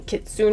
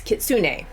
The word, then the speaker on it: Kitsune: First of all, I hope I'm pronouncing Kitsun right. Actually, let me look it up. Okay, so I wasn't pronouncing it correctly. According to the YouTube, it is Kitsune.